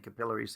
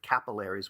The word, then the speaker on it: capillaries: Notice I'm saying capillaries, the proper English pronunciation instead of capillaries, which is just so unwieldy and horrible.